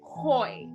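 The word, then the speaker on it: οἱ: So that means we'll have the first letter would be the first letter would actually have a H sound. So instead of just being oi, it would be hoi, like that.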